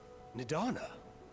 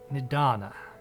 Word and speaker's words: Nadana: must speak with you nadonna you're awake and donna okay i've been pronouncing that wrong nadana yes when i spoke with